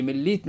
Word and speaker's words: مليت: ميه من ليتن اي مليتن مالطا نعم مالطا تاريخيا هي قبيله من قبائل زنات حسب المؤرخين وهذا تجدوها عند اغلب المؤرخين وسابه المسلمين اسمها التاريخي مليت بالتاء وليس بالطاء كما ننطقها اليوم مالطا مالطا مالطا مليتا وغيرها